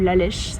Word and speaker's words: Lalish: So, we're in the village of Lalish, or Lalesh, depending on how you say it.